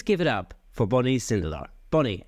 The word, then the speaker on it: Sindelar: It is Sindelar, is it? That's it. Yeah. You're one of the few people who did it right on the first try.